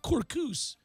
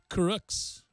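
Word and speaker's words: Kurucs: Rodions is not Kurkus, but Kuruks. It's Kuruks.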